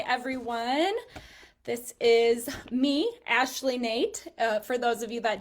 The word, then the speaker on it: Noethe: Yes, it's pronounced Nate. Don't ask. Kind of a interesting pronunciation that you wouldn't expect, but I am a realtor in Indianola serving the Des Moines metro area.